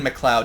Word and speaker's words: McLeod: I think it's Owen McLeod is how you're supposed to pronounce it.